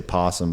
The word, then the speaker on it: opossum: I think the opossum, which is... I know I always say possum, but it's spelled super weird.